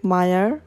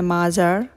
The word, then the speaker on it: Meijer: আমরা স্টোরে আরেকটা কথা এখানে মায়ার প্রোনান্সিয়েশন একটা টুইস্ট আছে টুইস্টটি হচ্ছে একটা সাইলেন্ট জে অনেকে এটা ভুল করে উচ্চারণ করে ফেলে যে মাজার আসলে এটা মাজার হবে না এটা মায়ার হবে একটা মজার ব্যাপার খেয়াল